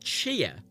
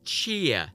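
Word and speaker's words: Tchia: which uh Daniel pronounces which is not how you pronounce it the tears sort of Silent it's not cheer it's cheer like there's a was it it's like a tet noise at the start of the chair okay not cheer cheers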